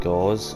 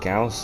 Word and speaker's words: Gauss: um now i understand most people call them gauze or goss for some reason i've heard that one before um but it's actually pronounced gauss and i can confirm this because one it